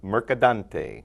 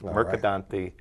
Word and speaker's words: Mercadante: it mercadante mercadante a lot of people throw an n in there or merant and uh I think my parents would be very proud if when people can say our name correctly mercadante it's like a pasta I'll I'll say mostly